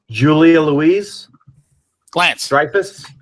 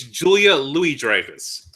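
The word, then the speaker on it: Julia Louis-Dreyfus: four people doing nothing in New York on Julia Louise Lance stus that is incorrect Lance oh uh you know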